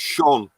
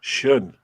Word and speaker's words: schön: How's it pronounced again, Ian? Dankeschön. Dankeschön. No, it's Sean. Sean. Dankeschön. No, it's schön.